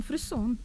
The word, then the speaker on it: фриссон: А как же, где ударение-то? Ну, фриссон. То есть все-таки французское? Фриссон? Да. Такой красивый французский термин.